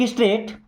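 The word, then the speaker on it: straight: मी्स देखो स्ट्रेट देखिए यहां पे जी और एच साइलेंट है टी के पहले कभी भी जी एच लिखा रहेगा तो वो साइलेंट ही रहेगा यानी कि उसको नहीं पढ़ना जाता है ओके सो लुक स्ट्रेट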